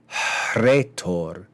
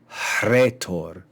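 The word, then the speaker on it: ῥήτωρ: the H actually though the H is pronounced before the r in Greek words in English we don't do that we just say rhetoric but in Greek that would be retor okay we see the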